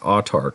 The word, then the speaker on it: Autarch: Now, the name of this is pronounced autarch, which is a word that means a ruler who has absolute power.